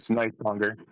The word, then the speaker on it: Nisonger: How do you say it properly? It's Nisonger. You're saying it right most of the time.